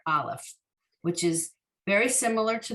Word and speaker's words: aleph: focus on the letter aleph which is very similar to the last letter we learned last week the i in aleph is also a silent letter and we all know